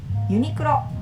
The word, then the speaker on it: Uniqlo: Uniqlo, that's our pronunciation.